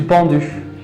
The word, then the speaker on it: pendu: Le jeu du pendu. Le jeu du pendu. Du pendu. Du pendu. No es prend, hein? Pendu. Pendu. Le jeu du pendu, comme E et U.